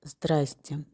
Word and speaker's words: здрасте: Мы можем сказать «здрасте». Это беглое произношение.